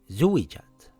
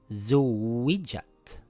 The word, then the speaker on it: زُوِّجَتْ: I didn’t say zuwijat with doubling the letter. It is Zuwwijat It’s like this زو